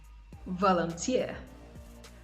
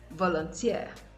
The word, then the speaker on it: volunteer: stress is usually placed on the last syllable of words that end in eer engineer engineer volunteer volunteer pioneer pioneer auctioneer auctioneer